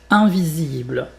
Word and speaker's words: invisible: Donc bien prononcer le S comme un Z.